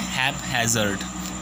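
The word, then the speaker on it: haphazard: ठीक है, यहाँ पे जो ये वर्ड है इसको बोलेंगे हम, राइट प्रोनाउंसिएशन इसका क्या है, हैपहैज़र्ड। ठीक है, यहाँ पे HAP यहाँ तक बोलेंगे, फिर ये हैज़र्ड, ये दोनों चीज़ें अलग।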